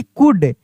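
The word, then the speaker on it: could: Ji thing thing he सी ओ यू एल डी कुड अगर लिखा रहता यहां पे एस एच ओ यू एल डी तो क्या पढ़ते शुड अगर लिखा रहता यहां पे डब्ल्यू ओ यू एल एल डी तो क्या पढ़ते वुड यानी यहां पे एल साइलेंट रहता है।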